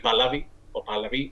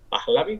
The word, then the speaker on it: Pahlavi: Ahí ya te digo, no quiero meterme en un jaleo, en un fregado, pero bueno, es una palabra que ha pasado del persa al pahlavi con H aspirada, pahlavi, no lo sé.